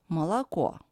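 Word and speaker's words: мало: is pronounced as AA the most typical example is mala here we can see two o which are unstressed and pronounced as a and one or is under stress and that's why is pronounced as in alphabet o Malo Malo and one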